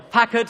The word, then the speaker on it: Packard: elegant pre-war 12 cylinder Packard or Packard as we should be pronouncing it considered by many enthusiasts